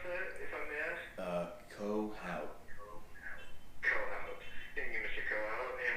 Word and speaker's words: Kohout: And then last name, was it K-O-H-O-U-T? Yes, sir. Yes, sir. Perfect. How do you pronounce that, if I may ask? Kohout.